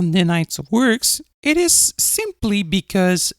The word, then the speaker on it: Ninite: Ninite. So, as you heard, Ninite is spelled N as in November, I as in